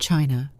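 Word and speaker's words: qi: In ancient China, health was never just about flesh and bone. It was about energy. The invisible vital force called key pronounced key flowed through every living being.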